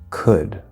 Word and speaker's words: could: or oh you LD where the L is silent there's no L sound for example good would should could so yes the word